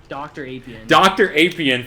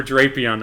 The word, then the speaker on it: Drapion: pronounce it like unironically dr aprian for drapion i love that one what